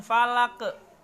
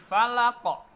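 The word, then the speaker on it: فَلَق: ketika kita wakafkan disitu maka kita kembalikan falaco bunyinya jangan Falak ke tapi Fala kok Hai full a'udzu birabbil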